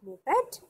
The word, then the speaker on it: moped: The meaning is that, and it's pronounced with 2 syllables, mo and pet.